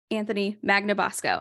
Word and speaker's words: Anthony Magnabosco: Anthony Magnabosco. I pronounced that correct, right?